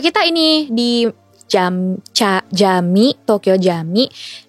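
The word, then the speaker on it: Camii: Ya, tapi kita ini di Jami, Tokyo Jami. Kita bacanya Jami ya? Jami. Iya Jami. Jami ya.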